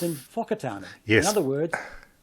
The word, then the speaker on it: Whakatane: And then they're told to pronounce words like Wakatani with an F sound. It's called in Whakatane.